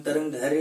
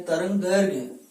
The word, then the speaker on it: तरंग दैर्घ्य: उच्चारण में हम तरंग धैर्य ऐसा भी बोलते हैं। शुद्ध वाचन क्या है? तरंग दैर्घ्य, ये शुद्ध है।